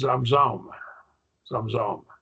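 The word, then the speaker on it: Zamzummim: in heaven and the Zam Zam zumans pronounced zom zom are said to be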